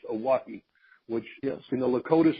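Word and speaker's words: Oahe: it and it creates you're wrong or called a walkie Oh heh pronounced a walkie which yes you know Lakota Sioux language means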